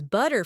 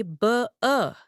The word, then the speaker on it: butter: The word butter, which is butter for you, and butta for me in RP, could be buh in a Cockney accent, with that glottal stop right in the middle.